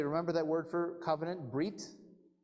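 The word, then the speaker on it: ברית: that word for Covenant breed if you pronounce that in Ashkenazi style Hebrew it would be bris just like Shabbat becomes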